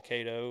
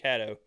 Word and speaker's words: Caddo: It's probably Cato or Caddo. How do you say it? Caddo. I got corrected. Caddo. I got corrected down there by a Louisiana guy.